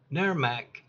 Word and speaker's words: NAERMC: For over 10 years, NAERMC pronounced NAERMAC has been providing the most comprehensive, up-to-date mold assessor training available, bar none, and it's always free.